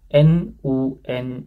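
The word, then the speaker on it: 눈: Jadi kalau teman-teman ini bisa baca niun, konsonan dasar juga niun, konsonan terakhir juga niun, kemudian vokalnya u, kalau gitu n u n ya kan. Jadi nun bacanya nun.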